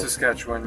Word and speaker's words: Saskatchewan: Saskatchewan? That's how you say it? Saskatchewan, yes.